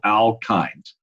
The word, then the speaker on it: alkyne: a triple bond, well, we use the suffix YNES, which is pronounced ines. Triple bonds are called alkynes.